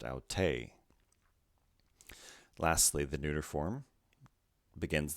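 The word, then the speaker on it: αὐτή: the acute accent the feminine form then is pronounced au tay lastly the neuter form begins the same way with an omicron at the end au taw al tos au tay auta next we have a new letter this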